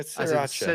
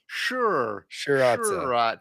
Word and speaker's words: Sriracha: What do you do with the first R? Basically, don't pronounce it. So, just sir. Yeah. Sriracha. Si Sriracha. So, you're mispronouncing that. You got to pronounce the R. Surely. I I don't think you do. Secondary. More like a sha shuratza. Shuratza. Okay, we'll go with that.